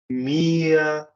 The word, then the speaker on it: mir: O R em alemão, ele é sempre largado, tá? Então, sempre que ele vier no final das palavras, no final das sílabas, eu sempre vou soltar ele. Ele vai ficar aqui como se fosse um A.